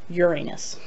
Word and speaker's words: Uranus: You guessed it, it's Uranus, or pronounced by many, Uranus.